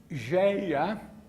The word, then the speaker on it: Gaia: a ideia de que Geia, que é a forma como pronunciamos a palavra grega Gaia, que é a Terra, que a Terra é um mecanismo vivo.